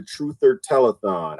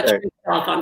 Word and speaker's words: Truth Telethon: Jesse, they're from the Truther Telethon. I actually was a guest. Telethon, truth. Did I said it wrong? You put an ER in the end. It's the Truth Telethon.